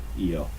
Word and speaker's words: Io: Io. It's literally 2 E's and then like O in the phonetical.